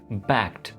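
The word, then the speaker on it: backed: यहाँ पे ईडी को हम बैक्ड नहीं कहेंगे, बैक्ड ऐसे नहीं बोलेंगे, बैक्ड, बैक्ड। यहाँ पे ईडी जो है हमारा टी के अंदर चेंज हो रहा होगा।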